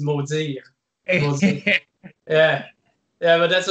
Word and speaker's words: Maudiir: But the real way to say it in French, of course, is Maudiir.